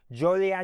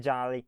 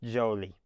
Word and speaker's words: Joliet: Jolie is how everyone pronounces it. So just remember that it's not Jolly, it's Jolie.